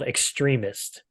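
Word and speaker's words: XTRMST: Slash metal core band it's called extremist now it's it's it's not spelled like the word extreme it's it's spelled x-t-r-m-s-t uh the interesting about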